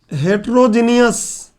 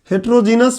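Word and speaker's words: heterogeneous: जिसको हम बोलते हैं हेट्रोजीनियस। जीनियस सब वही है, बोलने में प्रोनाउंसिएशन बिगड़ता है। हेट्रोजीनस मिक्सचर क्या है?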